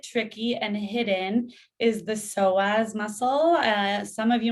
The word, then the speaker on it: psoas: want to research it it's p-s-o-a-s with the silent p so when you're sitting